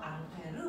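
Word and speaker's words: Ampère: 이걸 알려준 사람이 앙페르아서 앙페르 법칙 됐어 앙페르 사람은 프랑스 사람이니까 앙페르고 읽으면 되는데 그걸 미국놈들이 뭐라고 읽었어 어라고 거죠 자 그래서 이게 전류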